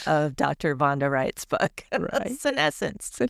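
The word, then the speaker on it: senescence: Vonda Wright's book, scessence.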